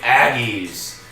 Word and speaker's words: Aggie: Number 6, BYU, the Cougars on the prowl against number 10 seed Utah State Aggies. As we know, Aggie rhymes with naggy, and sometimes Cougars can be quite naggy.